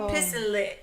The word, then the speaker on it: pissenlit: Pisson If to pronounce it phonetically, it's pissin' lit. Oh, yeah. Pissenlit. Pronouncing French is Pissenlit.